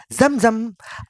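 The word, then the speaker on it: Zamzam: bacanya bukan jam-jam, zam. Nah itu. itu Beda. dia. Kalau Jam jam sama kan ke jam tangan. Iya, bisa juga lompat-lompat jam-jam. Jam. Oh iya betul. Iya. Yang ngasih zam-zam banyak, yang ngasih kurma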